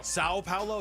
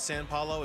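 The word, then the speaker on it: São Paulo: Sao Paulo. It's not San Paulo. It's Sao.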